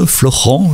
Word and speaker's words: Florent: Florent, je dois bien dire. Je t'explique pourquoi j'ai cette tendance à dire Florian, c'est parce que mon fils s'appelle Florian. Et donc, j'ai du mal à prononcer Florent.